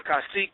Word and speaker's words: kasik: my brother shalom shalom how do you pronounce your name it's brother kasik kasik that's that's Tao for